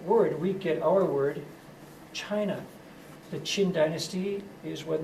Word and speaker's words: Qin: the others and unifies China for the first time into a very formal Empire that dynasty is called chin and in the pinin system the CH sound is written as a q I'll write the complete